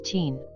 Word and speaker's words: tien: Tien is just pronounced as teen. Teen. Okay, so the I is like silent.